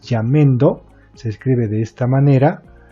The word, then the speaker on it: Jamendo: Que en realidad el nombre correcto es Jamendo, se escribe de esta